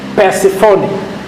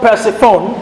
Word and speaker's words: Persephone: Now, certain other demon named Persephone. Satan a ordonné à un démon appelé Perséphone. Persephone Perséphone is spelled est P-E épilé, P-E, R-S R-S, E E, P-H P-H, O-N-E.